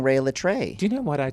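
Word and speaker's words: Rhea Litré: did I say but you said rehea oh did I say it wrong right I'm saying Ray L tray do you know what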